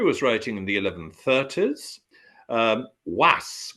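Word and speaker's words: Wace: Was, which we spell W-A-C-E, but I'm told you pronounce it Was.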